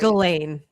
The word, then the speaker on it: Ghislaine: Is it Ghislaine or Ghislaine? I never know if I'm saying it right. Ghislaine. I thought it was Ghislaine. Okay. Yeah, Ghislaine Maxwell. Cuz I try to say say the s, too, sometimes cuz I hear other people saying it.